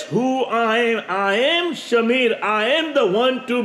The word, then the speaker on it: Shamir: you can spell as s h a m i r s a m i r s a m e e r you can pronounce whichever way you want but my name is is Shamir and it is which